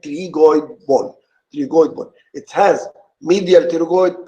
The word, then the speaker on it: pterygoid: going born he got the P is silent you don't pronounce the letter P so it's called CLE going on three gold but it has medial